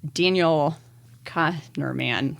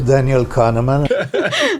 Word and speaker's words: Daniel Kahneman: called Thinking Fast and Slow um it's by Daniel Connor man I don't know sorry Daniel I don't actually know how to say his last name sorry my name is Daniel Kahneman um anyways he wrote a really really smart